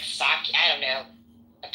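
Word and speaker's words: Psaki: it's saki like I I definitely know it's saki J saki I call her tacky because she's tacky saki like the Japanese beverage I mean no no it spelled like it spelled like a Polish person yeah I got say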